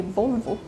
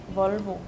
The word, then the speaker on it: Volvo: Because we say Volvo, and you say Volvo. You say, like, O. So you have, like, an A sound in your O's. Yeah. And ours is just very clean.